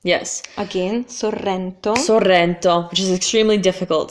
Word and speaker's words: Sorrento: sound 500 times better Sorrento Sorrento it's very popular so here you have the double arse yes again Sorrento Sorrento which is extremely